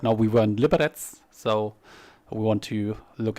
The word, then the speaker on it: Liberec: Liberec wird es ausgesprochen.